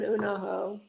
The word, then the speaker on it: Unoho: At least say his name right. Like, that's the one pet peeve that I have with everybody that wants to talk about how I didn't bet that horse. It's Un-Oho, not anything else.